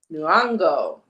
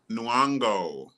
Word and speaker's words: Nyong'o: Nyong'o. Nyong'o.